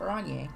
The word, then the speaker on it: Orenji: game every show is pronounced revishal oranie is pronounced orange classy is pronounced all right kim katsuragi my